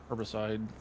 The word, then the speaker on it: herbicide: Why do I keep putting an H in front of it? My word, that's not how Americans say it. That's how Australians say it. Yeah, and it's wrong. Why is it wrong? It's got a H.